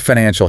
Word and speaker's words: financial: The word financial has 3 distinct syllables, and the structural emphasis must land heavily on the second.